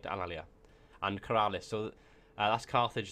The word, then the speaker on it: Alalia: So as you can see, the Etruscans have Alea. Oh my god. My pronunciation's gone completely to pot. Alalia. That's right, Alalia.